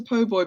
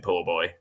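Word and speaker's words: po' boy: think during that because it's obviously it's a PoBoy sandwich but Victoria very keen to pronounce it poor boy um uh which we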